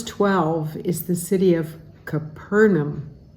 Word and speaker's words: Capernaum: Verse 12 is the city of Capernaum, so you want to put the emphasis on the second syllable, Capernaum.